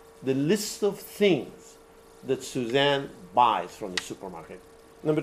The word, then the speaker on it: Suzanne: Some people pronounce it Susan, other people pronounce it Suzanne. The spelling will vary. But this is Suzanne over here, because the last word is what? And.